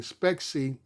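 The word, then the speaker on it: Spexi: Specsy is how you pronounce it, but S pexi.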